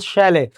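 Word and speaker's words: chalet: शैले टी इसमें silent होता है। इट इज कॉल्ड शैले।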